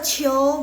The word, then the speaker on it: 球: 球 bacanya 球 harusnya kalian bisa tulis harusnya. 对了 oh iya 谢谢 kalian 对球第二声球 oke.